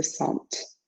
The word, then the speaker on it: sentent: Nous nous sentons, vous vous sentez, ils se sentent. And that T you pronounce, excuse me.